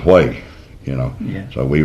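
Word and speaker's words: Huế: unless you were there like Hue E spells way, you know.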